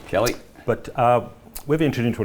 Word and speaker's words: Kali: yeah of course Tim it's pronounced Kelly Metals Kelly but uh we're entered